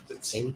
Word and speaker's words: Saley: Cindy was seeing initially Deborah Saley? Saley? Yes, pronounced right.